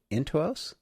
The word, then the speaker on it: Intuos: She wants, as a student, she was recommending the Wacom Intuos.